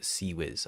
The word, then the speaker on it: Seawiz: Seawiz doesn't get a dash, however, but apparently according to the wiki, it is pronounced Seawiz.